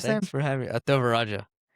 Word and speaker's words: Thevarajah: Ataraja Ataraja.